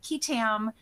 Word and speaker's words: qui tam: for them, which is pronounced differently in different parts of the country. Down here, we call them qui tam lawsuits.